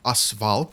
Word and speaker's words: AS Val: assault rifle or actually how you would call this in Russian will be asval that's the correct pronounciation